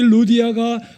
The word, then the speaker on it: 루디아: 리디아라고도 하는데 우리 발음으로는 루디아입니다. 아무튼이 루디아가 바울과 신라로부터 복음을 듣고 거듭나고 침내를 받습니다.